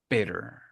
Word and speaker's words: bitter: Entre butter y bitter y hearty, palabras como esas, independientemente de cómo las esté pronunciando, tú siempre puedes tronar la T.